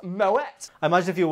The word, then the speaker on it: Moët: Actually, I think you'll find it pronounced Moet.